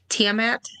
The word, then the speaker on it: Tiamat: Tiamat.